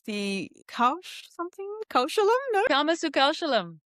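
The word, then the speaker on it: karmasu kaushalam: Karma Sukashalam. Karma Sukashalam.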